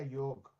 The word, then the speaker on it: योग: अच्छा, मैं मनबीर जी कई बार सोचता हूँ कि एक्चुअल प्रोनाउंसिएशन क्या है, योगा या योग? मतलब है तो योग ही होता है। हमें बता पाएंगे? हाँ, योग होता है, लेकिन आई थिंक